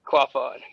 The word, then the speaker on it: Quaff On: How do you pronounce Yeah. it? I butcher it every Quaff. time. Quaff. Okay. Yeah, Quaff On.